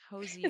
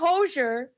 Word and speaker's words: Hozier: do you say hoer Hosier it's not hoser it's not hoser where everyone say Okay Hosier I know